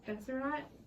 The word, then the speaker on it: Besserat: So, introducing you today, I'm gonna, do you want me to call it, okay, and you can correct me if I say it wrong, Besserat? Yeah, it's fine.